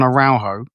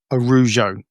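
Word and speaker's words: Araujo: We we settled on Arjo. Mhm. Which is almost completely wrong based on what I heard on the clips. Um uh Arujo.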